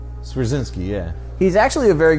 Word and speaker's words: Swierczynski: Yes, I cannot pronounce his name. Swizerinsky? Swierczynski, yeah.